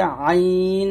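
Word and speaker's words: ع: তো এই দুটো হরফ আমরা গলার মাঝখান দিকে চাপ দিয়ে এবং চিকন করে উচ্চারণ করব। এটা হচ্ছে আইন আর এটা হচ্ছে হা।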